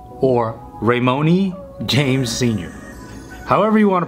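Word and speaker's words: Raymone: Okay, so I just looked up LeBron's middle name and it's LeBron Ramon or Ramoni James Sr. However you want to pronounce it, it's R-A-Y-M-O-N-E.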